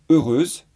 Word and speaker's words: heureuse: l'accord dans le cas de heureuse on ne prononce pas le h est donc c'est la